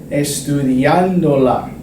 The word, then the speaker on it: estudiándola: I want to make sure that the accent, the stress, stays on that ando, estudiando, estudiándola. Because I've added an extra syllable to the word, I need to indicate with a written accent mark that the stress is still there. Otherwise, I would get a weird pronunciation like estudiándola, something like that. That's not what I want. I want estudiándola.